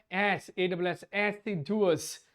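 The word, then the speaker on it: assiduous: वाओ, एसिडुअस, pronunciation इसकी है एसिडुअस।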